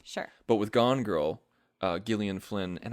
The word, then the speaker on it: Gillian Flynn: But with Gone Girl, Gillian Flynn, and I hate pronouncing her name that way You brought that up before. because it sounds like I'm screwing it up, but that's how she pronounces it.